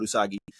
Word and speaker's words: Usagi: Well, let me say her name right because fuck man, it was Usagi and Arisu.